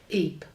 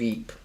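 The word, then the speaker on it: Ypres: can't you know what I'll spell it y p Eep yeah that's it the the hills of Eep and it suffered the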